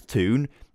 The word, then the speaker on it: Thun: the Thun, or the Toon striker. I keep saying Thun because it looks like Thun, all right? I know it's Toon, but you're going to have to get used to me saying Thun.